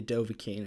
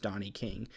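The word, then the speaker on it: Dovahkiin: arger tells you that you are indeed the dovakin and is most certainly not pronounced Donnie King you're still not 100%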